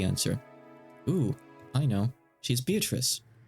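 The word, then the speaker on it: Beatrice: ooh I know she's beatric B so uh it's supposed to be pronounced bee which is the Italian pronunciation but uh for Simplicity sake I'm going to be saying beatric unless someone is shouting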